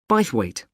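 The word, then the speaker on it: Bythwaite: Sorry, how do you spell that? B Y T H W A I T E. Bweight.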